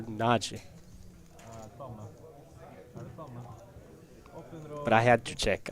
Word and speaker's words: Nagy: I think there's a kind of the Y is almost silent. It's there, but it's not pronounced Nagi, and it's not pronounced Naji, but it's more Naji.